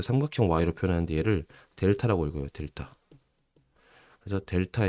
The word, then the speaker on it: 델타: 그거를 fb 빼기 fa를 y의 증분이라고 하고 자 삼각형 x, 삼각형 y로 표현하는데 얘를 델타라고 읽어요. 델타. 그래서 델타 x, 델타 y 이렇게 삼각형이 나오잖아요. 델타라고 읽고 변 변화량 변화량 혹은 증분이라고 있습니다.